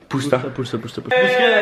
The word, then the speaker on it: Booster: Udtal det med et U. Booster.